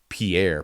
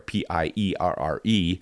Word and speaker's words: Pierre: I see the word Pierre, P-I-E-R-R-E, and having lived in South Dakota where the state capital is Pierre, but everybody pronounces it Pierre, I find myself calling people with the name Pierre.